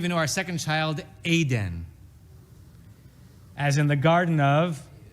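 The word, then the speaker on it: עדן: the sound is e the vowel under the ion is a s and the sound is a and except in Israeli Hebrew we differentiate between them Israelis would say that Eden two vowels the same but a proper biblical pronunciation of that word would be Aiden and we wanted to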